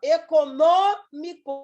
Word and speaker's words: econômico: tônica é a antepenúltima econômico ou proparoxítona a sílaba tônica é a antepenúltima tem a mesma regra